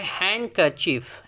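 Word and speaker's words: handkerchief: अगला है हैंड कर्चीफ। D silent है।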